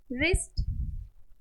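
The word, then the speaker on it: wrist: silent रंग answer answer भी बोल सकते हैं रिस्ट रैपर अब देखेंगे ऐसे वर्ड्स जिनमें एच साइलेंट है क्या हो जाएगा यहां सही है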